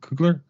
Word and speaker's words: Coogler: directed by Ryan coogler am I saying that coogler yeah he did the first one as well